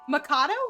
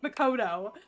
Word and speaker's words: Makoto: Can only hear the character from Persona 5 and her uh Makato. Mako. I keep calling her tomato. That's her name sounds like tomato. Macato. Makoto.